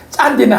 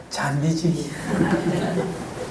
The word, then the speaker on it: 잔디: 하니까, 짠디는 아니야. 잔디지. 이 경상도 사람은 발음을 이렇게 세게 해서 그렇습니다.